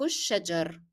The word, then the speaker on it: الشجر: Why didn't I pronounce the kesra in ra? That is because here I stopped, my breath is out. So once I stop, I would drop the pronunciation of kesra. However, if you take a long breath and you can carry on till the end of the sentence, then you can pronounce kesra.